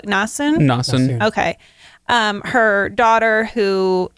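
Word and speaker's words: Nassun: essen and we have how did they pronounce it in the audiobook nassen okay um her daughter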